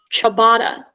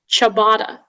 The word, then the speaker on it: ciabatta: sorry your word is chabada can you repeat the word ciabatta to have all the information uh sure so ciabatta is the only pronunciation the noun from italian